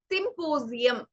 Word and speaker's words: symposium: ചില വേർഡ്സിൽ ഇടയിൽ എസ് വരുമ്പോ we pronounce it as the sound of Z, the 26th alphabet. So it is symposium.